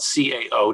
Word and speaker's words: Cao: Incidentally, it's spelled C-A-O, just so, but we pronounce it Cao.